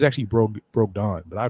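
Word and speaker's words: Brogdon: accused i heard i heard it's actually broke broke don but i call it braga but anyway that's how i pronounce my o's uh they have a malcolm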